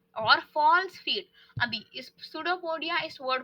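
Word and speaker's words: pseudopodia: false feet अभी इस पडो पडिया इस वर्ड को ब्रेक डाउन करते हैं पहली बात तो पी साइलेंट है इसलिए हम बोल रहे हैं पडो पोडिया ठीक है अभी पडो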